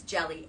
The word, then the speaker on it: Hjelle: Al see okay your last name is jelly h j e l l e yep and thank thankfully she she spelled it out it's jelly and then so